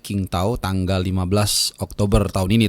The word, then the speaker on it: Qingdao: kita akan menghadapi China di Qingdao atau bacanya Qingtao tanggal 15 Oktober tahun ini tentunya ya.